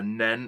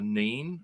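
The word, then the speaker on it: Nene: fact that um that paxo pronounced the river nen incorrectly um uh when when it flows through Northampton much of northamptonshire it's a river then not the Neen um so I either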